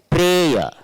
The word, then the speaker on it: prayer: Prayer. We should not pronounce ra. We should say prayer. Prayer. We should not say prayer. Prayer. R. That r should not be there.